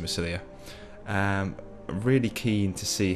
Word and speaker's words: Massilia: I really do enjoy playing with Epirus actually, so I'm really swaying towards playing with Massilia, or Massilia, I think you pronounce it Massilia.